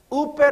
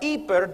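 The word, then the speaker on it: ὑπέρ: Uper or iper, depending on how you want to use old or young or new pronunciation of Greek. I prefer iper because it has the idea of hyper.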